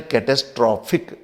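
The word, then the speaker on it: catastrophic: पर अब इसका थोड़ा प्रोनाउंसिएशन बदल गया और एडजेक्टिव के रूप में इसका प्रोनाउंसिएशन है कैटास्ट्रॉफिक। अब यहां पर है कैटास्ट्रॉफी, कैटास्ट्रॉफी, और यहां पर है कैटास्ट्रॉफिक।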